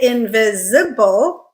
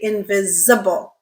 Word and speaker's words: invisible: You could say invisible, or you could say invisible. And often it is produced invisible, invisible. So you're using the schwa instead of the I sound, okay?